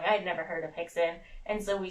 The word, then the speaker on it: Rickson: And I would always say, "Why are we calling him Hickson when it's spelled Rickson?" And he's like, "It's Brazilian."